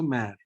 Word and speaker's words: mer: Okay, then how to pronounce this word? Mer. It is also mare.